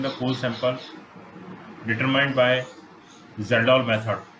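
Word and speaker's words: Kjeldahl: How much amount of nitrogen present in the core sample determined by Zeldol method. K is silent in this word.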